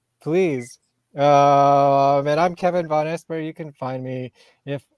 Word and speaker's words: Vonesper: i went von esper as well to not pronounce it correctly no i think that's correct von esper von esper oh okay cool i mean there's